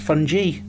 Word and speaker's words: fungi: If there's one thing I've learned from today, it's that it's actually pronounced fungi.